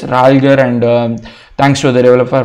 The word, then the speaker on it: ralger: My apologies for pronouncing this name wrong at the start. It is Ralger, and thanks to the developer for making this package.